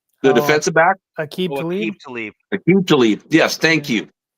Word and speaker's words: Aqib Talib: Rashid Tlaib, the defensive back. Aqib Talib.